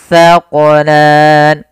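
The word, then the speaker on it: الثَّقَلَانِ: Maka ayyuhas sa, ayyuhas sa, ayyuhas thaqalan. Dan hati-hati dalam melafalkan huruf sa. Jangan sampai kita membacanya dengan huruf sin.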